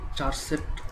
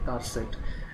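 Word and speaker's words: charset: চার সেট এইচ আসলে এটিকে চার সেট কেউ বলে আবার কেউ বলে কার সেট আসলে কার সেটটা হচ্ছে মেইন উচ্চারণ যেমন ক্যারেক্টার সেট ঠিক আছে সো কার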